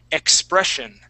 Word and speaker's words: expression: Okay, so here in the middle of the word with the double S, we're going to pronounce that as a sh sound. Expression. Expression. Expression. Okay, one more time. Expression. Shh. Like you're telling someone to be quiet.